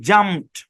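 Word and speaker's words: jumped: দিকে ভুল উচ্চারণ দেওয়া আছে সঠিক উচ্চারণ কি জাম্প সঠিক উচ্চারণ কি জাম্প খেলা দেখেন হ্যাঁ এখানে ডি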